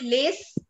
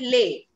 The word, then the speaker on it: les: end of any word, if there is a consonant at the end of any word, we do not give it its sound. That is why we don't call it lace, we call it lay.